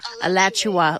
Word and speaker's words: Alachua: so dear highly articulate alechua is that how you say it um alachua like joshua but a latch you will alachua onto my and above